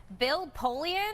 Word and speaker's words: Bill Polian: Bill Polian, am I pronouncing that right?